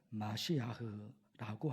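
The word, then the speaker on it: משיח: 그리고 구약 성경 언어 히브리어로 발음하면 마시아흐라고 합니다.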